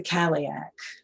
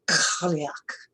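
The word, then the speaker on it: Cailleach: today we meet the caliac that's not exactly how it's pronounced in the irish it's more like cluck but my english you know american english accent doesn't quite say it the same way but the caliac sometimes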